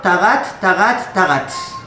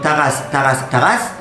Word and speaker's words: Tarat: et à la fin, Tarat. En prononciation ashkénaze, ça donne Taras.